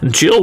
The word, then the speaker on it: Jill: Don't laugh, because Jill rhymes with kill.